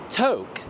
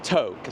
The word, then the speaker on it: Tok: And we're working our way down from Toke. And I learned that it's not Tok, it's Toke.